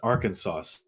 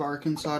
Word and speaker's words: Arkansas: were talking about the difference between Kansas and Arkansas no your audio like super just cut out yeah oh Kansas and also did you know that it's a crime in the state of Arkansas to pronounce the name of the state as